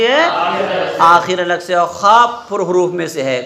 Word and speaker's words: خ: کر ادا کرو ہا۔ اور خا کو کیسے ادا کریں گے؟ خا کا بھی تو تلفظ آپ کا جیسے ہا کا رہا ویسے کھا کا رہے گا، ٹھیک ہے؟ تو کھا کہاں سے ادا ہوتی ہے؟ کھا ادا ہوتی ہے آپ کی آخر حلق سے۔ کہاں سے ادا ہوتی ہے؟